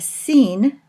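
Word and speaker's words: שׂ: And so one of those is now a sin, and it is today pronounced like our letter S, or a sheen.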